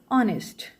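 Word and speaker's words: honest: जैसे कि आर ऑनेस्ट इनमें एच जो है साइलेंट है। इसमें भी ऑनर में भी एच साइलेंट है।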